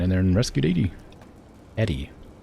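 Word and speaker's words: ED-E: Eddie, not Edie.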